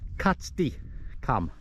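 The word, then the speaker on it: Catstycam: KY come KY Kat C katti katti cam pronounced katti cam you can you can see on the cont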